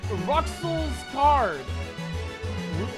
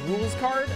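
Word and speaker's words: Rouxls Kaard: hello i am ruxell's card russell's card thousand greatest adversary uh that may have it's pronounced rules card okay uh that may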